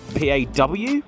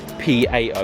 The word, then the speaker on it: Pao: See, this, if you did not know, is a Nissan POW. It's sort of pronounced PAW, I think, but it's actually PAO, a very Japanese thing.